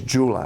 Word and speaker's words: Jula: and so that is a New Concept calls pronounce in English Jula I call it Ula J for Joy U for United L For